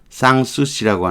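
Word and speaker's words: Sanssouci: 쌍수씨라고 하는 단어가 있어요. 쌍수씨는 유명한 프랑스의 궁정이에요. 근심 없이 지낼 수 있는 쌍수씨. 요거 알파자 있는 거는 N자까지 넣어서 발음을 하는 거예요. 불어 발음인데 쌍수씨 이렇게 발음해요.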